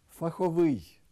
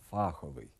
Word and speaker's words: фаховий: новий неправильний наголос новий фаховий неправильний наголос фаховий беремо неправильний беремо Ідемо